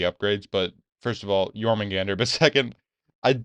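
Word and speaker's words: Jörmungandr: no wrong and also it's yman Gander not jorman Gander what definitely pronounced that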